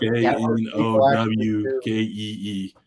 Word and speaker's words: gnocchi: Knowkee, not gnocchi. That just drives me up a wall.